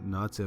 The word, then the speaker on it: Nace: Nace's name is often mispronounced as Nace, which is actually his older brother's name, spelled N-E-J-C.